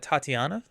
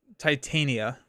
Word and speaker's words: Titania: Next up, we got Tatiana. Tit Titania. I've been saying her name wrong before my entire life.